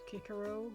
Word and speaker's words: Cicero: I'm still annoyed that things like, well, we want to say Cicero, but technically speaking, officially, I believe it's Cicero, which I kind of hate. With the hard C.